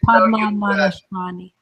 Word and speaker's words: Padmanabhaswamy: Padmanabhaswamy. What? I was just repronouncing the temple. Would you do that again? Padmana Bahashvami. If it's not Shvami, it's Swami.